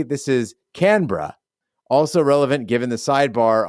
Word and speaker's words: Canberra: another shrimp for you Gene three Canberra degree of difficulty five out of ten pronunciation score six out of ten phonetically this is Canberra also relevant given the sidebar on bras during